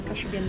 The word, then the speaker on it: Kashubian: Kashubian region, yes.